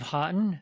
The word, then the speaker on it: Haughton: guest with us, Haughton from Virginia, here in the United States. How are you? I'm doing good. How about yourself, Eric? Good. Did I get Haughton correct? That is the correct pronunciation.